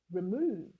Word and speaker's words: remove: The first word that comes to mind is remove. Remove. Remove. You can see we're stressing move. That's the stressed syllable in the word remove. We said it louder, longer, and with a higher pitch.